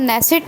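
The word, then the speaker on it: Knesset: Israel की जो parliament है उसका नाम नेसेट है और के साइलेंट है, याद रखिएगा, के से लिखा जाता है।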